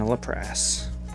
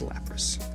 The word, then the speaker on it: Lapras: cubone misty's determination and a la press that's not how you say it it's lapras all right you you're